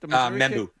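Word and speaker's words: Mbow: Is it Mebo? Is that how you pronounce it? Membu membu.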